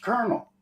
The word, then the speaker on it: colonel: was of Colonel right but there's no R in that word that's right right what the hell yeah but here it's pronounced Colonel where' the damn R